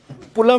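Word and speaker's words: plum: प्लम cake, पुलम नहीं रे, पुलम नहीं, प्लम प्रोनाउंसिएशन सुध लेना।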